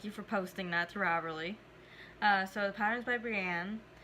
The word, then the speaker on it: Ravelry: But before I mention that, what led to me starting it is Ravelry.